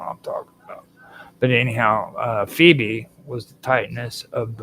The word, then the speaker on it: Phoebe: NS now this one I always call phobe and I know that that's wrong but it's Phoebe um I always call